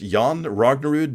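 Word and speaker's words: Jon Rognerud: j n r o n r UD it's pronounced yon rognerud decom um hey you can uh you can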